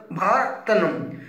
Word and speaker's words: Bharathan: Bhairava has been directed by Bharathanam. A lot of confusion in pronouncing his name. His name is Bharathan, and the music has been given by Santosh Narayan.